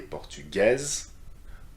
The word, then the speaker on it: portugaise: And by doing so, you need to pronounce the last consonant, which is not pronounced otherwise in the masculine form.